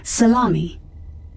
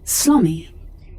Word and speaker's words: salami: Reed's latest trigger food salami which she pronounces slami yes the ankle is